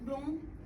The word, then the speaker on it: Blum: por volta de 1983 Patrick blom ou Patrick BL era conhecido como um Jornalista angl francês Então os duas pronúncias caem bem para ele né ele foi correspondente